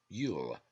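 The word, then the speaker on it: luil: churchtum cannot remove it it is yule l-u-i-l pronounced yule a jew why does this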